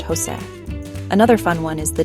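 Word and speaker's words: José: The letter J makes a sound like the H in house. For example, the name Jose is pronounced Jose.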